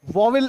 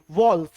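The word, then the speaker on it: vowels: वॉवेल इसका गलत pronunciation है, it should be वॉल्स, right.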